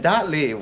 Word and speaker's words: Dottley: you're you're the the my last name has been pronounced so many ways in my life am i pronouncing it right it's the last name you get right every time it's the that